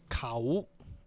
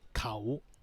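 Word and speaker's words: เขา: So the first word is a single, has only one syllable. The word khao.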